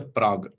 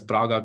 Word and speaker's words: Prague: So, I mean, it's quite funny in our setting if you call it as Praga classification, like nobody likes it. So that's why I stick on to our original Indian pronunciation in the form of Prague classification.